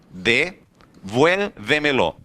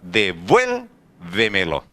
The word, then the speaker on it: devuélvemelo: que a palavra ficou devuélvemelo. A maior intensidade de voz não está na última sílaba, não está na penúltima, não está na antepenúltima, está antes da antepenúltima sílaba. Devuélvemelo.